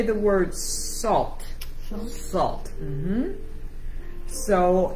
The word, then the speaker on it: sal: La sal. La sal. La sal. No, sal. Stal. You're saying stal. Sal.